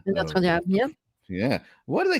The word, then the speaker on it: Notre Dame: You pronounce it correctly, not Notre Dame, as in Notre Dame.